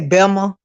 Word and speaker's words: Bessemer: And you may hear me say Belma, because that's how these folks pronounce Bessemer in Alabama.